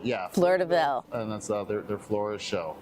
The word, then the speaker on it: Fleur de Ville: Yeah, my French is not that great, but yeah, Fleur de Ville, yeah. Fleur de Ville.